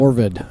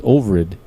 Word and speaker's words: Ovrid: Avrid also said, or is it Ovrid? Also said. Orvid. Orvid? No, it's Ovrid.